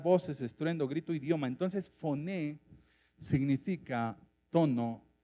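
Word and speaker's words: φωνή: bien lo que dice, La palabra en griego es foné, F-O-N-E, y bueno, acento en la E, y bueno, la E con acento, para que me entienda.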